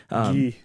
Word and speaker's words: Guy: Guy's the actual man's name. Guy. Okay, it's Guy. I'll be here to pronounce everything French correctly.